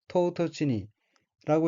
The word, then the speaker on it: 唐突に: 다음 어휘는 한자가 한국어로 당 돌리고 각기 당황할 당, 갑자기 돌자이고 일본어로는 토우토치니라고 읽으며 토우토치니는 뜻밖임, 도련함, 갑작스러움이란 뜻의 해용동사 토우토츠에 니가 붙은 것으로 토우토츠니는 뜻밖의 갑자기라는 의미입니다.